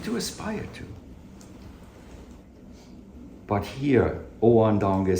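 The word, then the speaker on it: Ōan Donge: So, Oan Donge, that's how it's pronounced in the Japanese.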